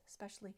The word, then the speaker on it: especially: the very beginning X especially but this is not correct and if you look at the spelling e s p and then onward ESP is how it starts and that should sound s especially especially especially a